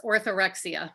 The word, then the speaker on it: orthorexia: to be discussing and correct me if i'm pronouncing it wrong orthorexia yes orthorexia okay um so let's start off with just